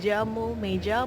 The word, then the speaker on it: llamo: Dibacanya tuh double L itu kayak Y. Tapi kalau di Amerika Latin dibacanya tuh kayak J. Jadi